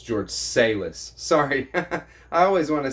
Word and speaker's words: Salis: It's George Salis.